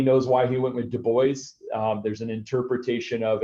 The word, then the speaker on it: Du Bois: so high level um Du Bois it is pronounced Du Bois apparently somewhere on one of his notes he actually like writes out the pronunciation nobody knows why he went with Du Bois um there's an interpretation of it was uh